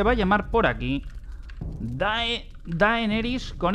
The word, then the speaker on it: Daenerys: Y el nombre, pues se va a llamar por aquí Daenerys, con Y, Daenerys Targaryen. Se escribe con E, aunque en castellano creo que se pronuncia con A, ¿vale? Nosotros decimos Daenerys Targaryen.